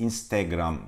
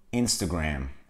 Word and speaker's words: Instagram: Instagram diyoruz birçok kez Instagram telefonunda Duyuyorum ben Türkiye'de İngilizce doğru telaffuzu Instagram Instagram Instagram Ya kanka dışarı çıktığında